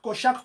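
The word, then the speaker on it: Cochac: Kochak, comme ça se prononce, C-O-C-H-A-C.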